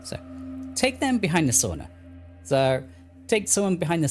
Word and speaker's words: sauna: Sorry, sauna. It's pronounced sauna. I always say sauna but it's sauna.